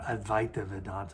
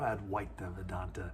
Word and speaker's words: advaita: meditation and non-duality or advaita or advaita as it's sometimes pronounced.